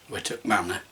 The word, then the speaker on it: Wightwick Manor: Wightwick Manor, and that is how it is pronounced, Wightwick Manor.